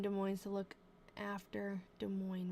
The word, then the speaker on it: Des Moines: Contractor Barney Marsh is here from Des Moines to look after, Des Moines, right? The S isn't pronounced.